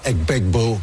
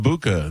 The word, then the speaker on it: Egbuka: Egbuka is the way I Egbuka. But none of the guys that announce it they they don't they call him Abuka. They don't say Abuka.